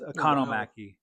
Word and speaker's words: Economaki: I only know how to say his name because Corey Taylor talked about him in his book, but it's Economaki.